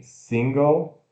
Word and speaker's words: single: Então, apóstrofo sílaba tônica, S e curto, N que trava no céu da boca, né? E, sing, e o som de G, schwa L, G, A, L, go, single, single.